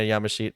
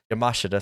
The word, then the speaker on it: Yamashita: more charlie evans and rina yamashit uh yamashita sorry i've been always saying her name wrong yamashita um but i don't